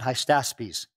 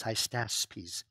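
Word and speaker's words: Hystaspes: 521-521 and Darius won heistaspies non-hypsies like I keep mispronouncing as high status peace 521-486.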